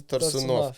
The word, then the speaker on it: Torsunov: Oleg Gennady Torsunov. Yes. That's how you pronounce it in Russian. Yeah.